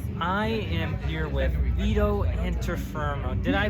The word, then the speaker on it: Antuofermo: I am here with Vito Antuofermo. Did I pronounce that right? Right. The close I've ever seen pronounced something. It's pronounced Antuofermo.